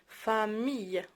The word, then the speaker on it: famille: دونك famille M I 2 L E famille هذه كتقرا ي، من يكونوا جوج ال بحال ما هكا كتسمع ي famille عائله.